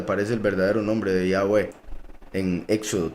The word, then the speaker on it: Yahweh: Dicen Jehová, pero en hebreo es Yahweh. Es la verdadera lengua, la verdadera pronunciación, porque repito, los nombres no se traducen.